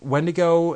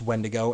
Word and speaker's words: Wendigo: The form that I'm referring to is the one that's actually pronounced Wendigo, and that's the inhabiting demon spirit. The other one is pronounced Wendigo, and it's usually used out in the Pacific Northwest for a Bigfoot-type creature that's usually like 50 feet tall.